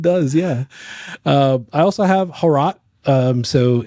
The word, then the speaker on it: Hrot: I also have Harot. So it's spelled HROT. Yeah. So Harot is like a very popular boomer shooter that I've played the demo of, but I never ended up buying.